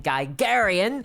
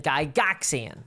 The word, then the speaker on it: Gygaxian: It would be like calling something Gygarian rather than Gygaxian. It's just wrong.